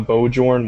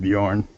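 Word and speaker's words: Björn: they uh picked up bojor Warner really yeah yeah really oh my God Warner pretty sure that's pronounced Bjorn I want to yeah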